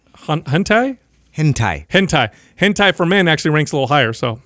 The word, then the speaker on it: hentai: top one here yeah it's kind of interesting gente gente I think I'm pronouncing it right am i saying it wrong hentai sorry why does Doug know this Japanese there's